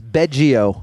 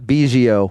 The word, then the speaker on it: Biggio: It is Beggio and not Biggio.